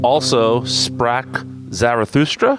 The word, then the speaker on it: Also sprach Zarathustra: It is also Sprach Zarathustra. Is that the correct pronunciation?